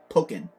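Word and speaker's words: Pokkén: Um Pokeen Tournament DX. Yes, Pokeen Tournament DX. Woo! This is a amazing fighting Pokemon game that was made by, you know, the same people that make Tekken, hence Pokeen.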